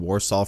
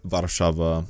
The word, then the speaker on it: Warszawa: I mean, not even just Krakow or even Warsaw for that matter, or Krakow or Warszawa. That's how it's actually pronounced in Polish.